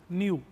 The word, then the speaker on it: NIU: न्यू, NIU। But spelling तो गलत है न्यू की। Actually this is a Chinese word और इसका मतलब होता है गाय।